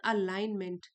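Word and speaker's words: alignment: मानती बट S inner अलाइनमेंट ji silent है अलाइनमेंट between intention and conduct.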